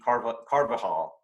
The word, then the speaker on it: Carvajal: I mean, let's say the Anglo version of it would be Carvajal. Okay. Carvajal.